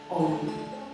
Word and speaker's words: OM: can sing with me the syllable OM. With the O which is long and the M which is short.